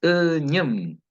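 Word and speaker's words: üñüm: Fíjense que no hay ninguna U ahí, es ñem. La boca va así como ñem. Pero si pluralizo digo pu, y ahí sale la U, que es circular. Pu, U, ¿cierto? Pu, ñem. Es muy diferente la U de la ¿cierto?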